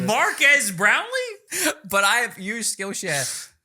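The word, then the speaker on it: Marques Brownlee: In fact, Mark S. Brownlee has done many... Sorry, that's how Will Smith pronounces it. Marquez Brownlee?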